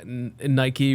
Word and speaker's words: Nike: before about how uh Nike was mispronounced as Nike early in the in its life it's named after the Greek goddess of Victory but nobody knew that